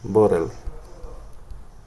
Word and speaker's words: bottle: que termine en botella, bottle, está terminando en E. Yo no digo bottle, digo bottle. Termina en sonido L.